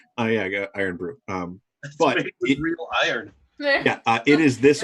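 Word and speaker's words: Irn-Bru: as i can tell she insists is pronounced iron blue because it is super scottish or something so she never just says oh yeah i got iron broom um yeah it is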